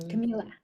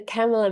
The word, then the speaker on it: Camila: for it Camila um Camila but um um I I prefer the camela mispronunciation if if people do mispronounce my name um because camea Shamy